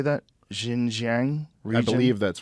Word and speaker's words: Xinjiang: Xinjiang region?